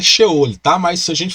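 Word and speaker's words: Sheol: é o local de purificação ou xeônica a pronúncia correta é show ele tá mas se a gente fala Shell porque as pessoas normalmente pronunciam a portuguesado Shell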